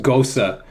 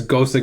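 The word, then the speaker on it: Gose: yeah yeah it's I think like it's actually pronounced Gosa go a German word it's Gosa getter yeah okay well the Gosa with salt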